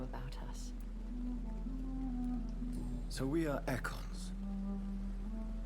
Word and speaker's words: Ekon: Ekon is how it's pronounced.